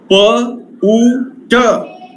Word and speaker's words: put: When I say put, P-U-T put, I cannot say B-U-T but. This is B-U-T, B-U-T. I say but.